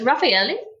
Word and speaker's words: Raffaele: So whilst we're on the subject of pronunciation, how do we actually pronounce your surname? Okay, so it's Raffaele, but when people look at it, and especially